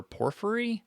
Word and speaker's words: Porphyry: However, this is by a philosopher, Porphyry, I think is how you say it.